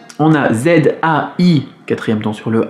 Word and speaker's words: 再: Mais ce Z, on va le prononcer un petit peu comme un DZ, DZ, Zai, Zai.